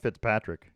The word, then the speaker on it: Fitzpatrick: golf because um matt fitzpatrick england's matt fit pet fit pet fit matt fitzpatrick you said it right the first time i know and then